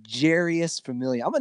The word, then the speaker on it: Jeurys: you traded your boy Familia for nothing he's pronounced Jarius yes Jarius that's a great name yeah Jarius